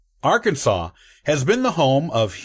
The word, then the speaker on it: Arkansas: in 1803 with the Louisiana Purchase interestingly the pronunciation of the state was only settled as Arkansas with an act of the state legislature in